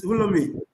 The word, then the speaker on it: Wulomei: And that's a group called Wulomei. Did I pronounce it well, Dr. Sita? Yes, Wulomei.